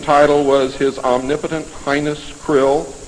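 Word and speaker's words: Krlll: his name and title was his omnipotent highness krill pronounced krill spelled kr L ll r CR LLL in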